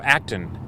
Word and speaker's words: Acton: names of them oh Acton it's it's it looks like it's spelled action but it's with without the eye it's act o n they make a a